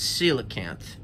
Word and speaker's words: coelacanth: the coelacanth for a long time i couldn't pronounce this but it's coelacanth the coelacanth and this animal was thought to